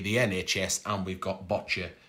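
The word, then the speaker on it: boccia: nhs and we've got bocce which rhymes with gotcha so if you want to know how to say a wheelchair balls you see a gotcha but with a b it's botcha so i'm going to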